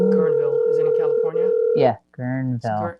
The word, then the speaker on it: Guerneville: Guerneville is in California?